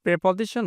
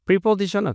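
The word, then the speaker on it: preposition: শোনা এবং লিসেনের পর প্রেপজিশন মাস্ট ইংরেজিতে বলি আমরা প্রেপজিশন প্রেপজিশন আবার প্রিপজিশনও কিন্তু হয় দুই উচ্চারণটাই হয় ঠিক আছে আপনার প্রেপজিশনই বলবেন স্ট্যান্ডার্ড বেশি লেসন টিচারসথনশনস শোনে কার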